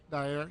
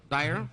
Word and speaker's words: Daher: now you're here and I'm pronouncing that right daher Dyer yep Dyer okay tell me about this new airplane well here we have the new 2023 TBM 960.